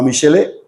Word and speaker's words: Michelet: También tendemos mucho a mitificar la Revolución Francesa por culpa fundamentalmente de un francés que se llamaba Michele, que se escribe Michelet y que es el